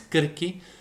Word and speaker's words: Circe: But, kirke or you write it as circe, but the pronunciation is kirke, is also the name of a pagan goddess of potions and herbs.